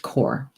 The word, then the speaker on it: Cor: carrom carrom eel from core and bloody cranesbill now Crane the word for crane in Gaelic is cor cor double check the pronunciation here we go crane yeah it's pronounced core and so we have